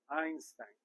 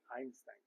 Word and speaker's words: Einstein: de Einstein Einstein verdad en alemán la ei suena como a es Einstein y la St verdad dependiendo de qué región donde usted esté verdad Pero uno pronunciaría Einstein todos conmigo la notación